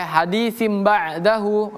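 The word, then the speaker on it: حَدِيثٍ بَعْدَهُ: Cara bacanya hadisin menjadi hadisim bima eh hadisim ba'dahu.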